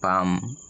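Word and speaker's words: palm: এ double S গ্রাস এরপরে এল থাকে তবে এল এর উচ্চারণ হবে না যেমন পি এল এম পাম সি এ এল এম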